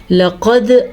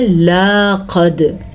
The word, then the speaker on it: لقد: زبر دال، قد، لقد۔ اکثر لوگ اس لفظ کو پڑھتے ہیں لاقد، ٹھیک ہے۔ ل اور لا ان دونوں کے مابین ایک بڑی غلطی بنتی ہے اگر ہم پڑی زبر کو الف مدہ میں بدلیں تو یاد رکھنا ان